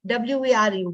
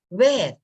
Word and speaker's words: were: is these those are were like w-e-r-e were many people pronounce it as where no where is w-h-e-r-e wer is difference between